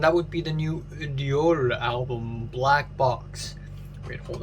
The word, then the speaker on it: Reol: the day, and that would be the new Reol album, Black Box. Wait, hold on. How do you actually pronounce this? Reol.